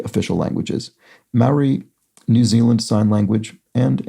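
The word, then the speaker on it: Māori: not internalizing it, but says Maoris pronounce Maori as Maori rather than what I said, which I think was something more like Maori or something, which I need to train myself not to do, so I apologize.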